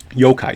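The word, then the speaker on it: yōkai: is known for coming up with ghost stories yokai stories and we'll just make that the password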